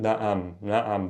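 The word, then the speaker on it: نعم: Look for a bit of like change in the tone. So even if you're not capturing the ayn, na'am versus nam.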